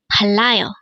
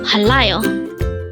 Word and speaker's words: 빨라요: hangle word number 323 Palo again it's Palo this pronounce as a three syllable word the first syllable is pal second syllable is LA and third syllable is Yo pronounce it to me